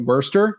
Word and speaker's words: Worcester: Market too to me it took me two years to learn how to say it the right way but Worster in Worcester oh Worcester yeah it's